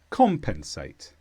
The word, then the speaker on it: compensate: here it's a verb with the stress on com compensate and the meaning number one